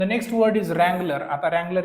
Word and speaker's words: Wrangler: एक नाव काय रगलर आता रगलर हा जो शब्द आहे त्याची जर स्पेलिंग जर तुम्ही जर बघितली तर डब्ल ने सुरुवात होते परंतु ज्यावेळेस उच्चार करतो आपण त्याचा आपण आर पासून सुरुवात करतो म्हणजे थोडक्यात काय आहे